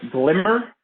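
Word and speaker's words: glmer: are doing doing um glimmer um this is usually pronounced glimmer glm er generalized linear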